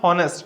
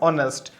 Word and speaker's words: honest: It is beginning with silent H. It is not honest. It is what? Honest.